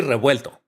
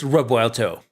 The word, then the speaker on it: Revuelto: Yeah, people pronounce Revuelto wrongly. I mean, the pronunciation should be Revuelto. So, but with the English accent, it's Revuelto, right?